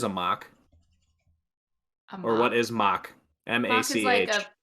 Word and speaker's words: Mach: Or what is mock? Mock is MACH. like a MACH? Mac? Mock. It's pronounced Isn't that mock.